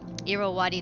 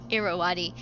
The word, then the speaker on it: Irrawaddy: It was the, oh my gosh, Molly, how do you pronounce it? Irrawaddy dolphin. It's a species of dolphins that live in South and Southeast Asia, in like Cambodia, Myanmar, and Laos. Yeah, Irrawaddy.